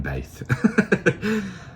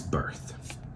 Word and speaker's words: Birth: I'm not sure how to pronounce that. I'm saying Baith, but it's birth.